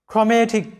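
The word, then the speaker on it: chromatic: তো এবার দেখো যে সি এইচ এর উচ্চারণ কখন ক হয়, যখন দেখবে সি এইচ এর পরে আর আছে তখন সি এইচ এর উচ্চারণটা ক হবে, অর্থাৎ সি এইচ আর সমান সমান উচ্চারণটা ক হবে এবং আর এ র ফলা যুক্ত হবে।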